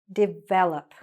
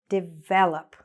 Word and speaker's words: develop: Develop. Develop, okay? So where's the stress? Here, the second syllable.